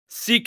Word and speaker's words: sic: latin they pronounce the I like and II know it's sick si si it is seek it is Latin si que no mints si k8 wait is sick and actual you can sick on someone on something something yeah that's what it's because it comes in the Latin adverbs sick meaning thus will not pronounce the I as an a they pronounce it as an e sick seek according to